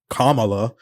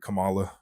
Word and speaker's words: Kamala: know's funny is that Biden called her Camala yeah I did that for like a good maybe three weeks and then I I corrected myself well there was a wrestler named Kamala or Kamala there was